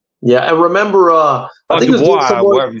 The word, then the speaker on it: Dubois: Yeah, and remember, I think Dubois, whatever you say his name.